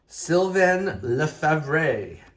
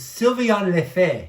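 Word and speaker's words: Sylvain Lefebvre: Silven Lee.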